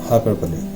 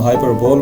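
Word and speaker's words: hyperbole: Next है जी हाइपरबोली। हाइपरबोली, इसको हम हाइपरबोल बोलते हैं। हाइपरबोल एक्चुअली नहीं है, इसकी प्रोनाउंसिएशन को आप नोटिस कीजिएगा, नीचे मैंने इसकी प्रोनाउंसिएशन डिस्क्रिप्शन दी हुई है, तो इसको कहेंगे हम हाइपरबोली।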